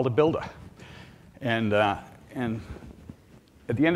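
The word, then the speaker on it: Buildah: way the Boston accent if that was Bui LD a the way I would pronounce it would be builder okay so Bostonians replace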